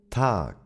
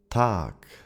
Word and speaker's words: Tag: And to complete the trio, we have the G sound, G, that if it appears at the end of a word, it is pronounced as a K, K.